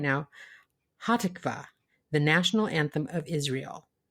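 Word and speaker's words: Hatikvah: this one right now hatikva the national anthem of Israel is that I get it right close we stress the second syllable I put the accent on the wrong salable there well you fixed it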